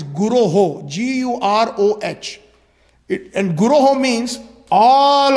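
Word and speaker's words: guroḥ: It is not Vande Guru. Again, sometimes we have the tendency to mispronounce. If we look at the board, it is Guroho.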